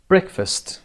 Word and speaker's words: breakfast: breakfast. number 1 قسمت اول روی break هست.